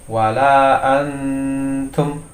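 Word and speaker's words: وَلَا أَنْتُمْ: Nah, jadi membacanya di sini ada contoh wala antum. Nah, di sini ketika kita di suara nun ini, di suara nun mati ini, maka kita harus ancang-ancang menyiapkan huruf makhraj ta ini. Jadi membacanya adalah wala antum.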